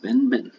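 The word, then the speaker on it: benben: And the primeval mound in Egyptian creation myth, is Ben Ben. It's pronounced Ben Ben.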